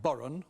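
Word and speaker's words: bodhrán: two please number two andrew spelt b-h-o-d-r-a-n pronounced boron what is it it's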